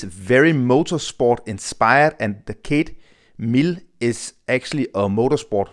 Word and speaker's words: Cead: I hope I am pronouncing Kate the right way. It is Irish.